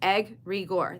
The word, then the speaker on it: egregore: They just said pronounced egg regor.